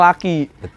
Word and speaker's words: Lucky: Rara lagi nyarinya cewek jadi Lucky ya keberuntungan ya dibacanya laki serba salah kalau kita kan lidah Indonesia nih bilang laki ya Lucky berapaan